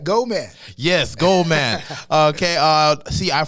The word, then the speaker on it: GO79MAN: That's how it's pronounced? Yes, right. GO79MAN.